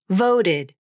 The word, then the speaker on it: voted: Voted. Divided. Id, id, id. Since it's unstressed, there are many words in which the t or d consonants turn into a flap, because you'll have a